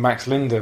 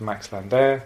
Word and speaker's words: Max Linder: I keep calling him Max Linder, but of course course, it's more properly pronounced Max Linder.